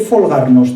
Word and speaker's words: holgarnos: Y dice la sobrina: ¿y el holgarnos, tía? Holgarnos pueden pronunciar la H con F y le saldrá el folgar y todo lo que pueda derivar de ahí, ¿no? ¿Y el folgarnos, tía?